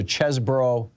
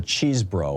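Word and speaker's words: Chesebro: two lawyers Ken Kenneth it's either chesbro or cheese bro I've heard it pronounced both ways on television uh and um and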